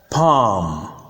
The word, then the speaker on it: palm: For example, the words calm, calm, bomb, bomb, palm, palm, and psalm, psalm. Note that the L is silent, as you can see from the transcription.